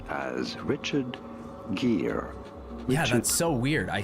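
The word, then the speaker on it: Gere: Richard Greer, but it's Ge R E. So, how do you pronounce that? Gear. Yeah, it is just gear.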